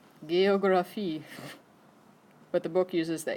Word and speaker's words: Geographie: It's a hard G sound. How do you think you'd say that? Yeah, you all stopped when you got the G. So G instead of J.